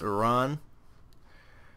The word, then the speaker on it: Iran: Okay, you see, here's the pronunciation of Iran, okay? It's Iran. It's not Iran, okay? Like, Iraq is Iraq. I'm pretty goddamn sure that's how you pronounce them.